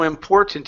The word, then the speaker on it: important: You're saying important and you're not pronouncing the R. Okay. Okay. Import. Think of the R more than the O.